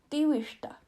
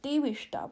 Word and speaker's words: diwishta: Diwishta. That's how you say it in the flower. Diwishta.